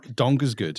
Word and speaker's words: Donkersgoed: It's because your last name is Jason Donkersgoed. Is that the right pronunciation? That's right.